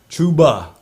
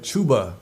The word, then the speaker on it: Chuba: Chuba. That's how you say it. Chuba.